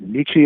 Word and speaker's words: Nietzsche: I realize I've been mispronouncing Nietzsche's name, but I'm going to continue for the sake. Well, we can get it to rhyme with peachy if we pronounce it with a long e at the end, even if it isn't the German pronunciation.